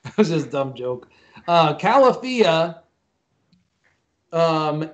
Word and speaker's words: Califia: know i'm drinking uh califia cap he said in a different way greg what did you say how'd you pronounce calafia okay california so just think of california okay i have to